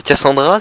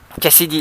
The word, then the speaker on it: Cassidy: Oui, alors bonjour, Cassandra, c'est ça? Cassidy, là. Ça se prononce avec un Y.